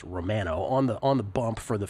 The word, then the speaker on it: Romano: But Romano, I used to pronounce it Romano, but when he played for the Blue Jays, they made it clear that his last name was pronounced Romano on the bump for the Phillies.